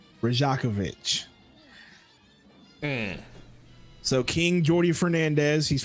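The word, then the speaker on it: Rajaković: Charles Lee and Darko I can't even pronounce that dude's last name Rajiv rajakovich there we go rajakovich so King Jordy Fernandez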